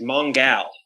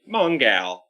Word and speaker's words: Mongal: gladiator battles and then i realized i was pronouncing her name wrong and she's mongal yeah because she's a gal and that's the best name maybe on the page for me mongal uh i like the